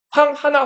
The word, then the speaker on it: 황하: 여기서 허 자체가 우리말로 쓰면 하라고 쓰거든요. 하라고 쓰는데 한자로 쓰면 자 이렇게 써요. 이게 물 하자예요. 그래서 원래는 그냥 황허 이거 중국어로 허라고 읽는 거고 황 하나 황허로 읽는게 맞아요. 황호 강하면은 황광 이렇게 되는 거예요. 그래서 원래는 황하 이렇게 한 글자로 읽는게 맞다.